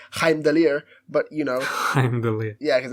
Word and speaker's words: Heimdall: who's probably like oh he's pronounced in the correct way heimdaller but you know yeah